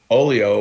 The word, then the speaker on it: Oglio: This is on Oleo Entertainment. Oleo Records, right? And so Oleo, which is spelled Oglio, the G is silent.